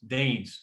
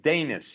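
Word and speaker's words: Deines: i thought it was danes what are you saying i they've been saying dennis dennis okay not as in dennis but danis you know like there's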